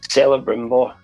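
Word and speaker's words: Celebrimbor: that that makes the rings how do you pronounce his name again saleh brimbo there there you go i i knew i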